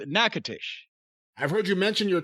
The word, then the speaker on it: Natchitoches: Yeah, that's what we used to call it when we'd drive through it, Natchitoches, but it's Natchitoches. I've heard you mention your time in Louisiana. Wait a minute, hold on. Natchitoches.